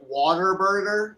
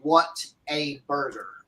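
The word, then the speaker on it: Whataburger: the non nons Southerners it might sound like some people are saying water waterburger like w a t r Water Burger that's how they say it down in Texas but it's just because people have it's supposed to be what a burger Water Burger Water Burger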